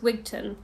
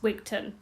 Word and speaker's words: Wigtown: in wigtown or it's not with town it's pronounced wigton I don't know why I mean my englishness even though my family is Scottish um pronounced things in such an English way when it's actually pronounced wigton but anyway um I got another Michael my